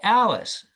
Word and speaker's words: hours: Yes, we say hours. There are 24 hours in a day. So when we pronounce that word, we start here. There are 24 hours. We start with the O hours. We don't say there are 24 hours. No. So that letter H is a silent letter.